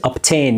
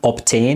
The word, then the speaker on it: obtain: obtain is pronounced as obtain yes it's we have schwa sound in the beginning it's not obtain it obtain yes show